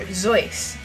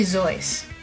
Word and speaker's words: Seuss: the dunce Deuces and you shouldn't Rejoice if you're calling him Seuss he pronounces it soy or zoy no it's SE so it's really zoy I think you're making